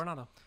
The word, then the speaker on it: Coronado: Is that how I pronounce this? Yeah, Coronado.